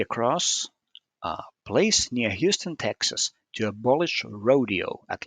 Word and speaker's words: Houston: Now, Soho is not a place near Houston, but it is a place near Houston. Houston Street is what this HO is referring to in New York. So, spelled the same, but pronounced differently.